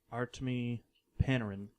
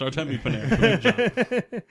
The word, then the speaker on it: Artemi Panarin: Now, they didn't have a first-round pick, but they were able to acquire Artemi Panarin in a trade. I know I didn't say it right. Yeah, it's Artemi Panarin.